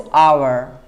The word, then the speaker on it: hour: और उसके बाद ये जो साउंड आता है HOUR, इसमें H म्यूट है, H इज म्यूट और इसका कोई साउंड नहीं है, लेकिन आपको बोलना है इसको आवर, an hour, 2 hours, right?